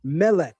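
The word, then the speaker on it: מלך: Consider the word for king, which is pronounced mele.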